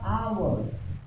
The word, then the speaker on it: hour: और मैंने यहाँ पे कहा HOUR आवर, आ की आवाज आई, हाँ साइलेंट है, एच साइलेंट है, तो यहाँ पे क्या आपकी आवाज है, जिससे पहले क्या लगना चाहिए, एन।